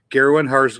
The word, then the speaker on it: Garwin: Garwin has goats, hard G.